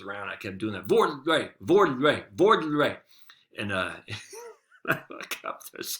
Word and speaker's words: vorrei: So you say it like, so vorrei is some word in Italian, and she's like, that's how she taught herself. Vorrei. You keep saying that, and I can feel my tongue.